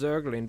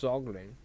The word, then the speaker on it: Zaglin: I know it looks like it's pronounced zurgling but you're wrong. It's zuggling you fool.